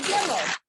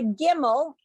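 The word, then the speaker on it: גימל: And this letter is the Gimel. So let me show you. It has the sound of the G, but the hard G. It looks like this. It's the Gimel.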